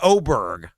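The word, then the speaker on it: Åberg: Ludwig Oberg, number 1. Ludwig. Oh, Ludwig. Ludwig Oberg. It's an A, but it's got the circle on top of it, so it's pronounced Oberg. Yeah. Ludwig Oberg.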